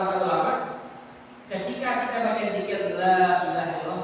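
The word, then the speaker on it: لا إله إلا الله: Makanya kan kata ulama, ketika kita baca zikir la ilaha illallah, maka panjangkanlah kalimat yang panjang.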